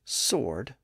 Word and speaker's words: sword: the middle and today the standard pronunciation is sword without the W sound the same thing happened